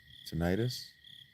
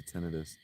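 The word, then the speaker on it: tinnitus: The tenidis, however you want to pronounce it, both are valid in the medical community.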